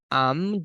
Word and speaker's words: I'm: If you want to use contractions, please make sure to pronounce it properly. Si quiero usar contracciones, if you want to say am, acuérdese de cerrar los labios. I'm drinking tea.